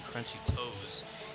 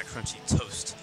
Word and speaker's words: Crunchy Toast: It sounded like I was saying Crunchy Toes and not Crunchy Toast. You know, like French toast.